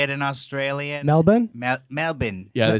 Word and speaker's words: Melbourne: that how they say it in Australia Melbourne Melbourne yeah they say Melbourne they do yeah yeah